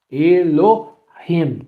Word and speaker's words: Elohim: Elohim, por exemplo. Elohim, Elohim. É gutural, é Elohim. Por que é Elohim e não Elohim? Por causa do H.